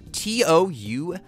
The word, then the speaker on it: tough: See, like this word is pronounced T-O-U-G-H. That's tough. Okay, now I'm gonna add an H on after T, and now it's T-H-O-U-G-H, and that's though.